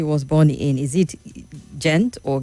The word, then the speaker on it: Gent: It says your guest said he was born in is it Gent or Gent? Gent. So he's asking the correct pronunciation of both town if you believe that